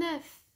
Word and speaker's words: œuf: œuf vole un bœuf la consonne finale des mots boeuf œuf et os et prononcer au singulier mais ne les généralement pas au pluriel on dira des œufs